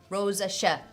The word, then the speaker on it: rosacea: Rosacea. That's how you pronounce it.